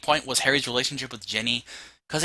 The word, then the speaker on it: Ginny: I think Jenny, is that how you say it? Ginny. It's got an I. Ginny.